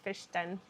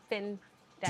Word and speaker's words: Fin Den: A lot say Dee Dee's fish den instead of fin den.